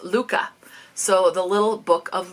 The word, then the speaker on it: Lykke: of the world's happiest people oh it says pronounced Luca so the little book of Luca all right